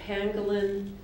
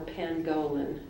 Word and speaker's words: pangolin: g a t Renegade your word has two pronunciations I'll give you both of them Pangolin or Pangolin pengolan p a n